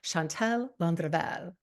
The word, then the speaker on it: Chantal Landreville: the incredible love coach, Chantal Landreville. Am I saying it right? Oh, yeah, I love it. The Okay. R roll too.